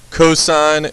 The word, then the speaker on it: cos: So cosine is abbreviated cos, but it's pronounced cosine.